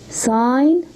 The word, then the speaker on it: sign: sign maker sign maker the G he here is silent okay sign maker what's the meaning